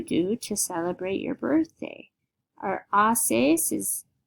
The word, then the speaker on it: haces: to celebrate your birthday OES is remember the H is silent we'll say OES and this is the